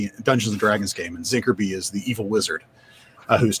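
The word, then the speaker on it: ZINCRBY: But as far as the ones for pronouncing, I like Z Inkerby, which I pronounce Zinkerby, and I always think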